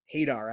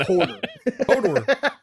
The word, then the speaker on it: Hadar: Hadar, I think is how it's pronounced. Hodor. H-A-D-R. I don't think it's Hodor. Hodor.